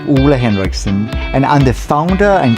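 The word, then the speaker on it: Ole Henriksen: banana eye cream by Ole Harrison Hendris Henderson. Hendrickson. My name gets pronounced in the most crazy ways. Oola la Ole, but my name is actually Oola Henrikson and I'm the founder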